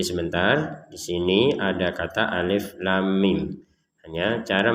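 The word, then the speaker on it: الٓمٓ: Di sini ada kata alif lam mim. Hanya cara membacanya, untuk yang alif kita baca alif seperti itu. Lamnya kita baca lam sepanjang 6 harokat. Lam.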